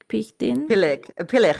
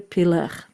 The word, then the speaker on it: Pilek: I had the chance to talk already to Pichtin. Pilek Pichtin was the other one. Sorry for that. Pilek. He told me what's the correct pronunciation. Pilek was the correct pronunciation.